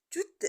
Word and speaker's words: toutes: car c'est féminin singulier toutes les semaines ici aussi on a un E et on prononce pas le S à l'heure on dit